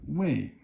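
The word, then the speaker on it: 位: Now, so if you have wei, this is fourth tone.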